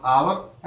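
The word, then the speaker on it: hour: लेकिन अब यहाँ पर देखिए दोस्तों, ऑन आवर एंड ऑनेस्ट, ये दो शब्द यहाँ पर ऐसे हैं जिनको हम हावर नहीं पढ़ते। यहाँ पर दिया इंग्लिश का कॉन्सोनेंट है, लेकिन इनका प्रोनाउंसिएशन जो होता है वो वोवेल से स्टार्ट होता है हिंदी के। इसको हम पढ़ते हैं आवर और इसको हम पढ़ते हैं ऑनेस्ट, ठीक है।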